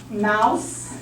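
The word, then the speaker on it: Maus: Mouse, and it's German, M-A-U-S, okay, good pronounce, mouse.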